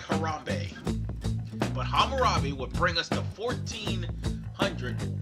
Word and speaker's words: Hammurabi: that is the out that looked like harambe but it's Hammurabi it I swear it looked like harambe Hammurabi would bring us to